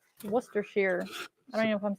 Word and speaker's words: Worcestershire: Oh, somebody says it's pronounced Worcestershire. Worcestershire.